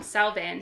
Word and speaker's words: Samhain: be but i mean there's a ton of ways to to say it yeah i mean you can say so wayne some people say champagne some people say cyhen with a silent m so there's all kinds of ways because it's gaelic yes oh i said it right earlier it's some scottish yeah salvin so you there's